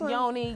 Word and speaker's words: yoni: into the yani stuff how do you say it again the yawning yeah yeah okay that's yoni yani okay for those of